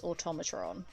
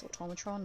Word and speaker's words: Automatron: But I had to teach myself that it's Automatron. Even when I did the DLC, I was like, it's Automatron, Automatron, it's Automatron, Automatron, Automatron.